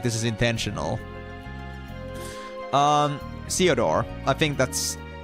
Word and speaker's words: Theodore: Chiodorio. Chiodoro. No, it's Theodore.